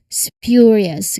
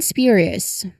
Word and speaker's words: spurious: Next we have the SPJ cluster as in sporious. This one is less in common but you know it's important to recognize it involves the uh letter s then p which is unaspirated here followed by the y sound.